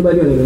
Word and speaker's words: bariónica: Bariónica, ¿no? Sí, se dice bariónica en español, aunque a mí me suena raro porque sí.